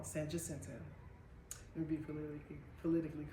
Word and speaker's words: San Jacinto: People be talking about me, I say the name wrong. San Jacinto.